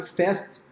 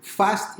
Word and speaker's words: Fast It: as pessoas podem pensar a pronúncia não é fast de inglês né de rápido em inglês mas sim fast e uma palavra em italiano na verdade é um